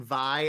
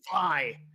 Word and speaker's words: Vi: long time, I was pronouncing Vi as V to the point where I was playing with people and they would get pissed at me. Who? Like, it's Vi.